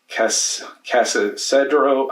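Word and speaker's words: Cascadero: My number 9 is Casadero. I don't know how to say it, but Bitewing Games. It's Cascader.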